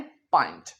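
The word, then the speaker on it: pint: पहली बात इसे पेंट नहीं कहना। क्या कहना है? पॉइंट।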